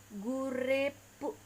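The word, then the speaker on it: グループ: Nah, grup ini jika di dalam pelafalan Jepang dia akan menjadi gurepu, gurepu.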